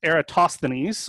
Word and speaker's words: Eratosthenes: So our canonical example is, I'm gonna look at my reference here on how to pronounce this, Eratosthenes, the sieve of Eratosthenes, okay?